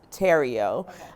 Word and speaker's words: Terrio: I'm very excited about Terrio Farms. So it's spelled The Riot because we're quite funny. But it's pronounced Terrio.